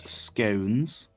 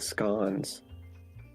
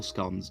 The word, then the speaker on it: scones: crumpets scones and jam and yes it is pronounced scones it's my favorite now I'm confused who's attacked you by calling it like scans everyone okay but actually break breaking that a